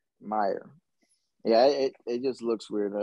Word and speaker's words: Meier: Meier.